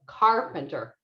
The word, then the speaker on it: carpenter: me hear it so try to say this first syllable a little louder and a little longer so carpenter carpenter so that's the